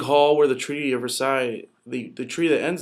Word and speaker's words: Versailles: to pay reparations and even though it's spelled vr versailles vrsa ali is it's actually versaille you see the picture